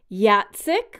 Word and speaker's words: Jacek: originally a Hungarian name meaning bravery and war Yat SiC which is spelled J ACK which is actually a Polish